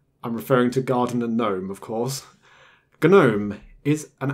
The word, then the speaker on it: GNOME: is not Unix and that is why we have a hard G in Gnome it is respecting its roots of ganu but if you're not